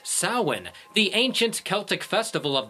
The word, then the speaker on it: Samhain: the name of the character is inspired by sam hayne well actually little buddy it's pronounced samhain the ancient celtic festival of the dead which